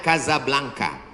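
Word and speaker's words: Casablanca: kuliah nama negaranya Maroko ibukotanya tulisannya casablangca cara bacanya Kadzab langka Kaza artinya rumah Blanca artinya putih Kasablanka rumah warna putih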